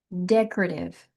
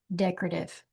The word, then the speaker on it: decorative: Decorive is how it looks like it would be pronounced. Uh, no. So it's deck that K decorative decorative.